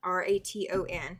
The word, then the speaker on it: Raton: You're going to go through Raton. You're going to go through uh Clayton. Clayton, New Mexico. And you're going to go through Raton. R A T O N. That's how it's pronounced is Raton.